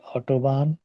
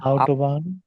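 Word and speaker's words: Autobahn: অসুস্থ, দি অটোবান, আউটোবান, আউটোবান, অটো না, আউটোবান, highway, highway.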